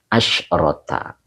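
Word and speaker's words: عَشْرَةَ: Ya lihat di situ kebetulan kalau yang ini pakai tamar buto Kang Dendo. Ya, pakai tamar buto. Jadi cara bacanya itu asyrota.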